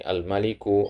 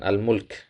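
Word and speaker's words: المالك: Tadi antum baca Allahu maka di sini almaliku, alalimu dan seterusnya. Nah, nah ini bacanya almalik ya. Almalik ya, bukan almulk. Kalau almulk itu artinya kekuasaan ya.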